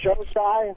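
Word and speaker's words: Xocai: Showside? It's Well, dark that was- chocolate. Showside. It's spelled X-O-C-A-I.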